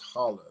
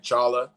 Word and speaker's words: challah: make a difference dude it's called a challah it's spelled c-h-a-l-l-l two l's and it's not colored bread it's just hollow that's what okay you have to say it like that's not challah i was calling it chala yeah um but then